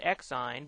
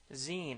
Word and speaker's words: Xine: next one is called zine i call it x sign but the correct pronunciation is zine as in maxine without the ma on there so zine is available from this